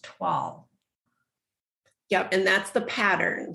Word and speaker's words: toile: rather than how it's spelled so t-o-i-l-e is pronounced twal yup and that's the pattern so it's not